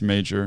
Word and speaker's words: Major: Is it Major or is it Mayer? I think I asked her. Oh, you asked her? And I think that it's Major.